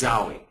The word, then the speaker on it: XAUI: applications for you first what is zoi and uh it's spelled X Au UI not zwi IE which is the way it sounds and really what it